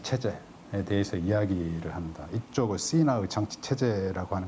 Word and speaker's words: Sina: 저쪽 끝에 올라가면은 시나라고 하는 곳이 있다. SINA인데 시나. 그럼 차이나와 가까운 발음인 것을 아실 겁니다.